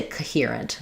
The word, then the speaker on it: coherent: I mean, I don't want to say coherent, right? It can't be a reduced schwa, but I definitely don't say coherent. That's going to be too long and overpronounced. Coherent.